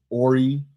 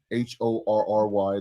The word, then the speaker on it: Horry: Horry, Horry, the H is silent.